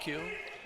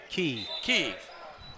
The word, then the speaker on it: Key: Is that pronounced Q? Key.